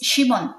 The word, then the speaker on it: Shimon: In Hebrew, is Shimon. Shimon is in Hebrew. Yeah. In English, is Simeon. Simeon.